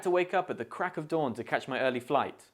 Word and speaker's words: crack of dawn: dawn in natural speech when we say crack of dawn quickly and informly the of sound can often become subtle or even omitted altogether in other words the of is replaced with the schwar sound uh this can make the phrase sound more like crack a dawn instead of crack of dawn examples include I had